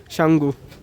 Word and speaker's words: Tsomgo: উঠে একটু টিকিটটা কাটাই ওয়েলকাম টু সাঙ্গু এখানে টি সাইলেন্ট তো চল ভরে যাওয়া যাক করুন বাবারে ভিউটা দেখো তোমরা একবার।